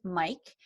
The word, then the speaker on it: Miik: So spelled M-I-I-K, pronounced Mike, amped like a mic.